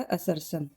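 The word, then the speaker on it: assertion: असर्सन और reason बोलेंगे इसको, प्रोनाउंसिएशन ये इसका असर्सन।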